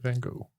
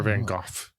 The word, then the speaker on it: Van Gogh: It is Vincent Van Gogh. Right. Or Van Gogh, if you want Van to Gogh.